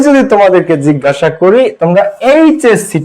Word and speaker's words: HSC: তাহলে আমরা একটু এখানে খেয়াল করি, এইচএসসি, তাহলে প্রথম শব্দটা, প্রথম অক্ষরটা এইচ, তাহলে এইচ আমরা উচ্চারণ করব, এইচ কি আসছে, এইচ, তাহলে এ, ফার্স্ট অক্ষরটা কি আসতেছে, এ, এ একটা কি ভাওয়েল, এ একটা ভাওয়েল, তার মানে এখানে an এইচএসসি student, an এইচএসসি student, বোঝা গেছে বিষয়টা?